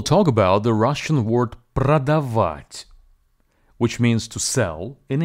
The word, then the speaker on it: продавать: about the Russian word pradavat which means to sell in English the word pradavat has three syllables Pro da vit and the stress falls on the last syllable please be advised that